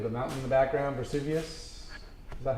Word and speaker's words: Vesuvius: it properly, with the mountain in the background, Vesuvius.